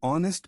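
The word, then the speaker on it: honest: एन ऑनेस्ट मैन, H silent है, vowel sound है तो एन लगेगा।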